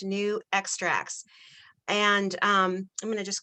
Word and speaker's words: NuXtrax: just changed their name their corporate name to new extracts and so that's down here that's how it's pronounced new extracts and um i'm gonna